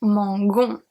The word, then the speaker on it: mangeons: Here it's pronounced mangon, mangon. Because when an O follows a G, it turns into a hard G, not a soft G.